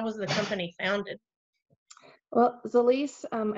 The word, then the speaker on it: Zilis: the company founded well the lease um it took me a little bit to learn how to say the least too and we said it wrong for a while but it's swahili and it means multiplying nutrition